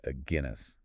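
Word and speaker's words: Aguinis: And we're going to pronounce that Aguinas, like the beer. A Guinness.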